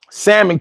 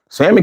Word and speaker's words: salmon: Shout out to people who pronounce the L in salmon.